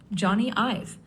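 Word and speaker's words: Jony Ive: Johnny IV. It's spelled J O N Y for his first name and I V for his last name.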